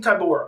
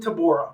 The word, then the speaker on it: Tybura: This was Marcin Tybura, okay?